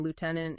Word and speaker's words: lieutenant: And sometimes sounds just appear out of nowhere, not even hinted at by the spelling like the F sound in lieutenant in British English anyway.